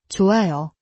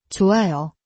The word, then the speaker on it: 좋아요: 그래서 좋아요, 좋아요 처럼 부드럽게 소리나요.